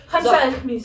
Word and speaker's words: خمسة وخميس: Khamsa ou khmis.